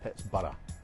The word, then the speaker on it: Pittsburgh: called it bar his his pronunciation would have been pits bar because he studied medicine